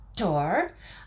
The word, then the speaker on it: Thor: So we're going to start with Thor or Thor. That would be how you say it in Norse.